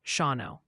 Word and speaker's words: Shawano: Quick tip from your viewers, Shawano is pronounced Shawano.